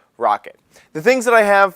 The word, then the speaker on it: Roccat: accessories i call them rawcat because it is spelled r-o-c-c-a-t the way they actually pronounce it is rocket the things that i